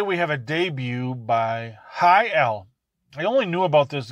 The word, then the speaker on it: HI-L: It's pronounced HYL. HYL. HYL.